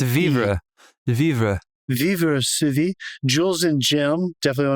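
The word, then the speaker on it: vivre: separate word separate word v i it's VRA vivra VII jeweles and Jim definitely want to shout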